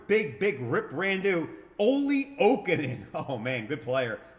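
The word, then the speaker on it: Jokinen: Ole Okinen, oh man, good player. Ole Okinen, J is silent.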